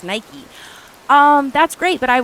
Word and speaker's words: Nike: But the Greek goddess is Nike.